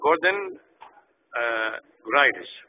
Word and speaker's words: Gordon Graylish: His name is Gordon Graylish, right? That's pronunciation?